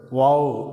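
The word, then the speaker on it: וו: அப்படியே எழுத்துட்டோம்னா இந்த கோட்டுக்கு உள்ள எழுதினோம்னா இந்த எழுத்தை வாவ் அப்படின்னு உச்சரிக்கிறோம் இந்த எழுத்தின் அர்த்தம் ஆணி இந்த வாவ் என்கிற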